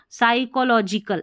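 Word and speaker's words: psychological: है वह देता है देखिए पी एस जब भी साथ में आता है पी साइलेंट रहता है तो पी को नहीं पढ़ना आप स्पेलिंग में जरूर लिखना है। साई एस वाई को साई सी एच ओ को एल ओ लो जी आई जी और कल साइको साइकोलॉजिकल ऐसे पढ़ेंगे।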